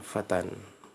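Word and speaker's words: فتى: Dia alif tetapi terlihat seperti ya. Bacanya namanya dalam bahasa Arab namanya alif maksurah, bukan ya ya. Bacanya fatan.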